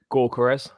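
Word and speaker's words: Gyökeres: How do you pronounce it, Charlie? Gyokeres.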